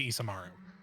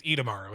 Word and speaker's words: Idamaru: You can use it to cast sending specifically to Isamaru. Sorry, Did I say his name wrong? Ida. It's Idamaru, isn't it?